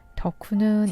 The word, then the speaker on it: 덕후: 일본으로 짧고 라고 하는데요 덕후는 이 오작교를 한국 발음으로 1호 더 구의 줄임말입니다 이 덕후가 하는 행동